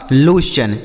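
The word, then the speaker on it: lotion: यही लिखा गया आपका लोशन। एल ओ टी आई ओ एन लोशन।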